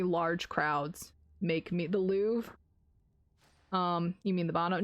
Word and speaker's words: Louvre: mean the bottom no no no louvre the louvre is a giant art museum in paris not not the loo the lube l-o-u-v-e l-o-u-r-i-v-e i think is how it's spelled but it's a giant